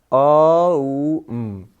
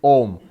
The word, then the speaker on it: Om: A and U together, they make O. So, together it's O. Therefore, the correct pronunciation is Om.